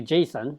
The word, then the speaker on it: JSON: stands for well JavaScript object notation and the pronunciation is actually Jason I used to say that it's JSON but I think that's incorrect according to the inventor is caught Jason and and what it is is it's an